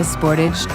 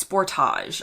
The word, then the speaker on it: Sportage: ground in the Kia Sportage Turbo Hybrid you can hear that in the UK it's Sportage like the Taj Mahal and in the US it's Sportage like the word Edge Kia is a Korean